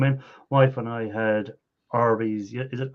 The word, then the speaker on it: Arby's: Wife and I had Arby's. Is it, how do you pronounce it? Arby's or Arby's or what's the way it's pronounced? RB. RB. Just like it's spelled.